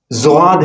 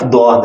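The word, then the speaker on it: ضاد: زواد ہے ہی نہیں، حرف دواد ہے، اس کا تلفظ زواد نہیں ہے.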